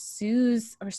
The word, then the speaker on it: Suze: Suze like booze. That's how But she tells people how to pronounce her name, because a lot of people mispronounce it.